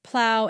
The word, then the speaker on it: plow: This rhymes with how and now. The words are bow, drought, plow, and slough.